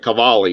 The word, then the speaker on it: Qvale: shell it's shell and the second one sounds like an Italian name it's like cavali CV l in fact